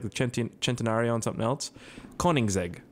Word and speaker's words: Koenigsegg: Koenigsegg, right? It's Koenigsegg. Yeah, that's it. I got it. I'm good. I can pronounce things.